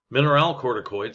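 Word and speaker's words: mineralocorticoid: you know if you have the need yes mineral corticoids that's how that's pronounced in sex hormones the chief mineral corticoid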